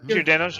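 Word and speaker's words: Giordano's: We ended up ordering uh Georganos. Is that is that how you say it? C Swab. Gordanos.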